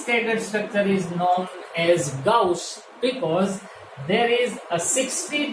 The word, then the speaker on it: gauche: conformer is named as, the spelling is Gauche. It is pronounced as Gauche. It is Gauche.